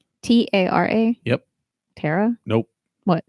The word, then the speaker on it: Tara: It's spelled T-A-R-A. How's it pronounced? T-A-R-A? Yep. Tara? Nope. What? Do not pronounce it like that. It's Tara.